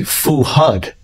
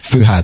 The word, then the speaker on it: Fuad: pronounce it here I I think it would be fuud no they're fuad fuhad fuhad fuhad and what do you